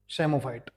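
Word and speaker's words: psammophyte: या कमजोर क्षेत्रों में यहां पर जो पी है ये साइलेंट है। ठीक है? सेमोफाइट।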